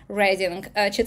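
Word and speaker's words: Reading: Рединг. Пишется как Ридинг, произносится как Рединг.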